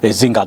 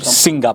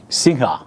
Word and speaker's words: Singha: Maître Zinga, donc, est dans ce studio. Singa, pardon, est dans ce studio. Singa, c'est comme ça que ça se prononce.